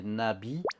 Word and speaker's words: Na.V: leur fandom s'appelle les Nabi, V en européen, mais ça se prononce Bi en coréen, et Nabi, c'est papillon en coréen.